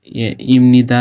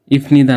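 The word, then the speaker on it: 입니다: এখন কারণ হলো যে এই যে বাচ্ছিমের পরে মানে নিউন আসলে বিয়োগটি প না হয়ে ময়ের মতো উচ্চারণ হয়। এই জন্য আর কি যে হচ্ছে যে ইমনিদা না হয়ে ইফনিদা না হয়ে ইমনিদা উচ্চারিত হয়।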